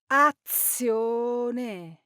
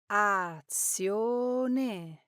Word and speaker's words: azione: Now, sometimes Italians accidentally double the Z when it's followed by I and another vowel. That's why you might hear a word like action or azione pronounced as azione instead of the correct azione, giving the Z a heavier sound than it should have.